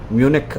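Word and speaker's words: Munich: अस्सलाम तार भाई, मुनिश इज प्रोनाउंस एज म्यूनिक और जीनिया एज गिनी, मोहम्मद सिराजुद्दीन लिख रहे हैं। वालेकुम सलाम भाई। म्यूनिक मुझे मालूम है, शायद म्यूनिक, मैंने म्यूनिक ही बोला, शायद म्यूनिच भी बोलते हैं, म्यूनिक भी बोलते हैं, गाइना जीनी।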